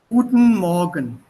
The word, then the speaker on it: Guten Morgen: Guten Morgen. The pronunciation is T and T na together. Good morgen. Guten Morgen. Ist not Guten Morgen. Das ist falsch.